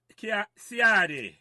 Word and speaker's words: Ciardi: So, Ciardi, that's how we pronounce it right. I want to get it right, you know. Yeah, man, you're on point. You're on point. Ciardi, not Ciardi.